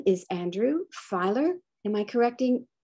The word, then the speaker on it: Feiler: today someone very special his name is andrew filer am i correcting correct in that pronunciation eiler yes all right and andrew